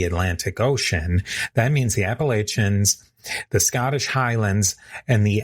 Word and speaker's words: Appalachian: Some say Appalachin, others say Appalachian. I'll be sticking with the Appalachian pronunciation myself.